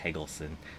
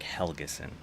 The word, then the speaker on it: Helgeson: I've been saying his name wrong, and I wanted to apologize for that. I guess a little dyslexia kicked in, and I've been calling him Eric Hagelson, but it's Eric Helgeson.